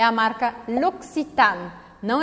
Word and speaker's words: L'Occitane: A sílaba forte aqui é o A, L'Occitane, L'Occitane. Eu pronuncio o N e marco esse N.